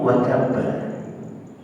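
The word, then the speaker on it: وَتَبَّ: Hati-hati, kalau bacanya watab itu udah salah. Watab karena dia tasdid dan dia qalqalah, jadi ditahan 2 harakat.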